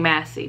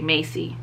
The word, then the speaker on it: Massey: you why um i kept saying massey brandon massey i never thought to say macy on their website they